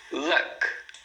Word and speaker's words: luck: Luck, luck. Então, luck é sorte, uma sílaba, luck.